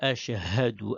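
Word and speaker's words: أشهد: Alors, on vient prononcer H. Ensuite, c'est Ha. Le Ha. Ensuite, c'est dou. C'est pas do, c'est dou. Ashhadu. On ne dit pas ashhadu. On ne dit pas ashhadu. Ashhadu. Répétez. Ashhadu. Autre erreur aussi à ne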